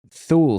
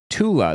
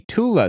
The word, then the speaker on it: Thule: Somebody says Thule Society. It's actually pronounced Tula, the Tula Society, because Germans can't pronounce the TH.